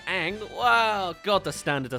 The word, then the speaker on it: Aang: and by the way they actually mention his name it's pronounced Ang wow God the standard